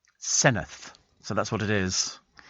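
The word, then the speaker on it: Senedd: here that says uh the Welsh Senate is actually the Senate pronounced senith senith so that's what it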